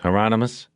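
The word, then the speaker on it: Hieronymus: He looked at Bosch through the camera and said, "Remember the promise, Heronomous? Rhymes with anonymous," Bosch said.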